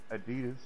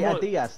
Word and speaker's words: Adidas: Nice pair of fucking Adidas. nice pair of Yeah, I forgot. Americans say Adidas, don't they? It's Adidas.